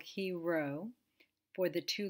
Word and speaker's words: chi: which is actually pronounced he you can say ki it's not chi it's not chai it's not kai it's he and you recognize it